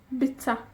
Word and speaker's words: bwyta: Comer en Gymraeg es bwyta. Se escribe bwyta, pero muchas veces cuando hablamos decimos bita.